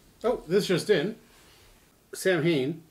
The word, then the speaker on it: Samhain: this is just in samhain or a gaelic word pronounced sawwin is a pagan religious